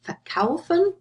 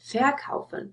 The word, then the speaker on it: verkaufen: For example, verkaufen or besuchen, you don't say verkaufen or besuchen. So you see the stress is on the stem here, they are inseparable.